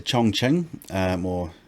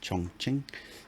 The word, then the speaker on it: Chongqing: So I went to Chongqing, I think that's how it's pronounced, Chongqing, sort of right in the heart of China.